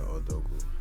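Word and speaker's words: Odogwu: How you pronounce that shit? I call it Odogu.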